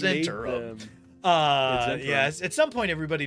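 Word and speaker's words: Zhentarim: And if you think that that's not pronounced right, hey man, Ed Greenwood came up with them, and he says Zentarum.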